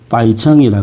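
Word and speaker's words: 白城: 이 강의 유역에 있는 대표적인 도시가 우리식의 발음으로는 백성시라고 있습니다. 바이청이라 그럽니다. 바이청.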